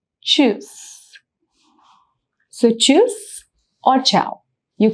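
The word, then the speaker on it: Tschüss: Again the one thing to mark here is the u loud which is the sound of uh so the pronunciation is choose.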